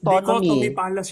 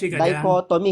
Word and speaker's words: dichotomy: dichotomy wala false equivalence hindi dichotomy hindi diony dichotomy hindi diony mali pa yung bigkas mo sigurado ka Yes mal